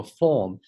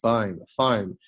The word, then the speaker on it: foam: working together bits of plywood 有个逗号，所以这个 d 要发清楚。Foam 不要读成了 form F-O-R-M 这个单词呢念 form 这里念 foam and fiberglass to build the mango 不是 mango